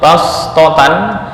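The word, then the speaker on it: بَسْطَةً: entar penerapannya di ayat ditulis SH di lafal bastotan tapi membacanya lebih diutamakan Sin artinya membaca dengan Sin lebih utama Bast wakum fil khqi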